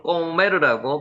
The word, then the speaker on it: 고멜: 고멜은 꼬메르라고 발음합니다.